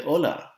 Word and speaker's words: hola: with this word asta the h in spanish is silent that's why we don't say hola we say ola same thing here we